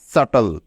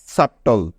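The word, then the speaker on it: subtle: চেষ্টা করো মনে রেখো শব্দের শেষে টি এল ই এই তিনটি বর্ণ একত্রে থাকলে তার উচ্চারণ সবসময় টল এর মত হবে ঠিক আছে মনে থাকবে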